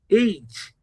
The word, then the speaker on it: H: they would most of my friends they did pronounce the h as hatch hatch the sound is her age HLT Hall or lost sometimes pronouncing the letter